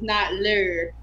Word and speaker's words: Notlö: Then I found out that that actually means not lure. So, like, with the pronunciation of the little umlaut, it's actually not lure.